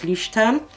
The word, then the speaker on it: Leuchtturm: jock book by luch i think it's pronounced lucha term 1917 and it's a